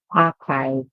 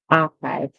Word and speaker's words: archive: Okay, so this word is archive, archive. The CH is pronounced as K, and then we hear hive as in beehive, archive.